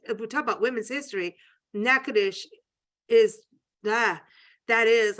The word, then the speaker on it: Natchitoches: Thank you to Natchitoches, Arlene over there in Natchitoches, Louisiana. And I'm going to spell it. And it's Natchitoches, not Natchitoches, which I would have said for years, like, you know, Nancy, but it's NATCHITOCHES.